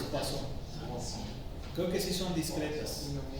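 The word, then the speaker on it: Poisson: de cuason no eh poison se escribe poison pero es pasón creo que sí son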